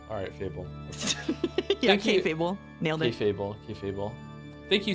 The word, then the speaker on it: kayfabe: The Fabe part is pronounced like fail, but with a B instead of an I. Fable? Alright, Fable. Yeah, Thank you. K-Fable.